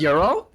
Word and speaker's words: gyro: that's pronounced Euro?